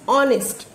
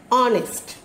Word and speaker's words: honest: तो whenever we say that man is honest, not honest. Got it students? The H alphabet is silent. So while we are saying this word, while we are pronouncing this word, we have to say that honest.